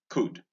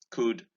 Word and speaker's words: could: Here is hood, stood, could, should, would. Notice that the sound occurs in O-U-L in these three words, could, should, and would. And that the L again in these words is silent.